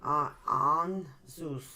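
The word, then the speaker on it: Ansuz: Anzus. How do you say that again? Ehan Zeus. Anzus. AHN dash HN. On. dash SOOZ. Zeus. On Zeus.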